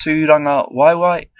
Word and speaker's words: Tūrangawaewae: The word of the day is Tūrangawaewae, pronounced Tūrangawaewae.